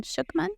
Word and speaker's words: Schucman: So it's A Course in Miracles written by, am I pronouncing it right, Helen Schucman?